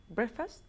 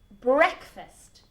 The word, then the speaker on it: breakfast: Break, as in descanso, is break, okay? The pronunciation is break, but break and fast, as in breakfast, the meal, is breakfast.